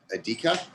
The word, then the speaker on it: Adika: Adika? Yes, you said it right.